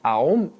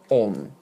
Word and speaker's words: Om: even further through santi a plus u in sanskrit equals o so the true pronunciation of aom is on whether it's spelled a-u-m or o-m you don't pronounce it aom it's pronounced on so what does this